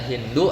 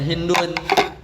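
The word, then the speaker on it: هند: Ada yang bacanya Hindu, ada yang bacanya Hindun. Kenapa Hindun? Karena 3 hurufnya.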